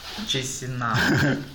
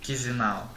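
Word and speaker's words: Chișinău: It is the capital of Moldova is Chisinau. No, wrong pronunciation. Chisinau.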